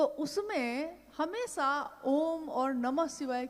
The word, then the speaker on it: ओम: दी जो प्रकट हुई उस ध्वनि की आवाज थी अ उ म अगर एक साथ सुना जाए उसको तो उसकी आवाज गूंजती हुई ऐसी है जैसे हम बोलते हैं या उच्चारण करते हैं तो हम कहते हैं ओम है वह अ उ